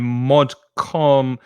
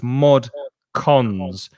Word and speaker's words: mod cons: Before this word, though, Eduardo's saying modcon. It's C-O-N-S, Eduardo. So it's modcons, which is modern conveniences.